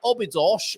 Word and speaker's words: Obidos: Do you say Obidos or do you say Ubj?